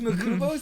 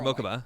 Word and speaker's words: Mokuba: Was Makuba's name changed? Makuba? No, he's still Makuba. Or Mokuba. God, Mokuba. I never pronounce it right.